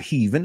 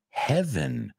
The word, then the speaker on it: heaven: I've heard people say heaven too. And it's not heaven, it's heaven.